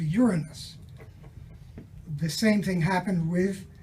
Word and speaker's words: Uranus: and therefore they were became shy of saying Uranus and they changed the pronunciation to Uranus the same thing happened